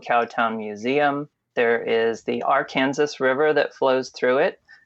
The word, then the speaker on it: Arkansas: the state of Kansas we still say Arkansas for the state but we say AR Kansas for the river that's unique to Kanas but in Witchita there